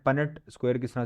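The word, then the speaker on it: Punnett: तो यहां तक समझ आ गया ना पननेट स्क्वायर किस तरह से ड्रा करना है? पननेट स्क्वायर होता है। पनेट या बाकी कोई प्रोनाउंसिएशन गलत है।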